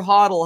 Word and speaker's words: HODL: code it expires tonight total hotel or huddle however you want to say it uh the code works